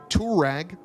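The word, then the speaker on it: Touareg: you guys are probably saying thanasi isn't the tourag a volkswagen will hank audi did i mean uh aprilia did it first and they spelled it correctly this bike is spelled t-u-a-r-e-g tour rag which is how that car should be spelled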